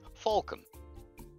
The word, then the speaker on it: Phalcon: Do you know how to say falcon, as in the bird? Well, then you know how to say falcon. It's just PH for an F.